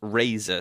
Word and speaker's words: Razer: they were called we we called them Reese like the reviewers that got the early ones called them Rees but it was actually pronounced Razer so they've changed their name now to be more like Razer so it's r z e and they sent me